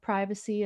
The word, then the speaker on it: privacy: on the value of privacy about alone time and everything else ok winners pronounce it with a short I so I'm gonna try to be conscious of that excellent yeah no it